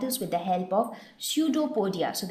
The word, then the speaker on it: pseudopodia: with the help of pseudopodia so the p is silent here what is pseudopodia pseudo what does the